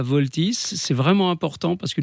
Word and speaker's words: Vaultys: Alors voilà, pour résoudre ce problème de piratage finalement, Voltys, ça s'écrit VAULTYS, je l'épelle parce que c'est important. Voilà.